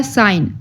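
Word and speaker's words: sign: तरह से शो होगा साइन एस आई जी एन साइन ठीक है साइन साइन में जी नहीं बोला जा रहा नेक्स्ट है h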